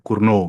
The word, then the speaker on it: Cournot: Ini orang Perancis, jadi bacanya jadi T-nya nggak di T-nya luluh gitu ya, Cournot gitu.